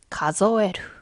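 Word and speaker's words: 数える: 가조에루. 뭔가 숫자 같은 거를 세다, 셈하다. 이런 표현. 자, 예를 들면 유비대 가즈오 가조에루. 자, 이 한자는 혼자 있으면 숫자, 카즈라고 발음하지만 동사가 되면 가조에루가 돼요.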